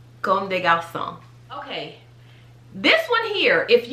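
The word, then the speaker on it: Comme des Garçons: you live in but this one is pronounced conde garcon now calm de gauss song there's two m's let's keep that in mind come de garzon con de gao song okay this one here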